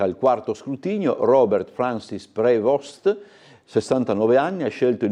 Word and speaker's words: Prevost: Il titolo Il papa americano, pace prevostetto con il nome di dovrebbe essere prevost se lo pronunciamo all'americana all'inglese.